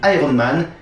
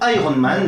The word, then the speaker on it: Iron Man: En effet, pour Iron Man, le I garde une prononciation assez proche de celle de l'anglais. Par contre, pour Spider-Man, le I se fait carrément franciser.